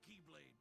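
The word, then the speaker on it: χ-blade: it means the x-blade it's just pronounced like keyblade even though it's just one keyblade ah the series is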